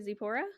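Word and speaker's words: Tzipora: expect it's like t-z-i-p-o-r-a i think that the t is silent yeah i don't know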